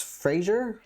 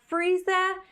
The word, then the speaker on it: Friese: So to kind of give a breakdown, what happened is that it was Fraser. Well, that's not how you pronounce it. No, it was Friese in the front.